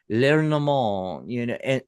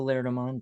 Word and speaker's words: Lenormand: I think it's French. Lenormand, and Madame Lenormand was a famous was a famous Lenormand.